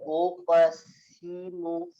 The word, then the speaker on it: أقسم: أعوذ بالله من الشيطان الرجيم بسم الله الرحمن الرحيم لا أقسم بهذا البلد Saknya hati-hati. Ulangin lagi, saknya tipiskan. La uqsimu, la uqsimu. Yang simu jadi so nanti.